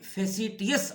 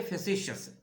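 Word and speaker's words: facetious: और दूसरा है फेसिशियस, जिसको स्पेलिंग में फेसिटियस आएगा लेकिन पढ़ेंगे फेसिशियस, जिसका मीनिंग होता है शेखी मारने वाला, शोखी बिगाड़ने वाला, शोखा जिसको कहते हैं।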